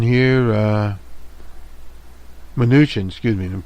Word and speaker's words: Mnuchin: You'll hear from them, from this Mnuchin here, Mnuchin, excuse me, I didn't pronounce his name correctly there.